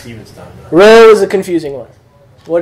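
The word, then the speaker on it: rho: It's not an R. It's a ro. It's a R, as in rod. It's your hard R sound.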